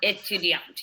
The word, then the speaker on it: étudiante: elle est étudiante. You are a student. She is a student, actually. Oh, she is a student. Sorry. So, elle est étudiante. And here you pronounce the T.